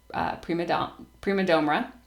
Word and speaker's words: prima domra: played the guitar and my mom played the prima domra. Am I pronouncing that right?